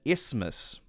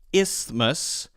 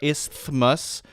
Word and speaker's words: isthmus: on my list and isthmus so it's pronounced Isthmus and people sometimes put the th there is thus or they just say Isthmus and they don't really pronounce the th so in Isthmus as